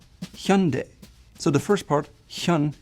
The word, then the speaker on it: Hyundai: And the back part is not like day in English, but de.